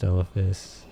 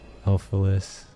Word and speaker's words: Elphalis: Do your worst, Elphis. Elphalis. I've said your name wrong this entire time.